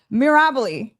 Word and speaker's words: Mirabile: Today, I am joined by the fantastic Mirabile. Did I say it right? Mirabile.